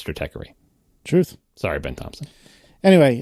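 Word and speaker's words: Stratechery: same situation I believe the original logo had a had a bar over the E to try to tell you what a long e say Strater right that's correct but that didn't work and the public has spoken and now the creator of that site says Strater truth sorry Ben Thompson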